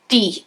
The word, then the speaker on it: Death: Death, or Death. Is it Death or Death? He says it can be pronounced either way, but it's actually Lord Peter Wimsey in disguise, and he's there to investigate this accident.